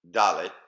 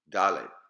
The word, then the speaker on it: Dalet: Now, let's try to pronounce them. Aleph, Bet, Gimel, Dalet, Hey. Once again, Aleph, Bet, Gimel, Dalet, Hey.